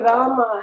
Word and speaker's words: Rama: would lovingly correct us, saying it is Rama, not Ram.